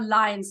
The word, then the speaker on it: lines: from here Shivam go the words are lines not loins okay so correct your pronunciation sweetheart um Guri you are